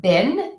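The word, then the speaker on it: been: do have an exception we actually pronounce the word bin b e e n with the short I bid this is very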